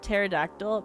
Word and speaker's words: pterodactyl: The P is actual, is silent pterodactyl.